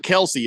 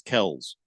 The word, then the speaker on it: Kelce: It's not Kelsey, it's Kells. Did you know that? No. It's Kells. Well, no. With an S at the end, not a Z.